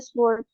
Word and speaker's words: sword: The pirate carried a sword. The W is silent.